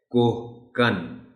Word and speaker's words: کوہکن: دیا جاتا ہے۔ کوہکن، اس لفظ کا تلفظ بچوں کو بتاتے ہوئے آپ ان کو بتائیے کہ اسے بہت سے لوگ غلطی سے انجانے میں کوہکن پڑھ جاتے ہیں۔ لفظ صحیح ہے کوہکن، اس سے کوہکنی بھی